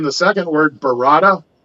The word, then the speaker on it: Barada: pronouncing the second word, Barada. They're saying Varada with a V.